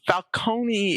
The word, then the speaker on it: Falcone: Falcone is the correct Italian pronunciation, while Falonee is the Americanized version. So, uh, whoopsies. Actually, no. Falconee is how it's been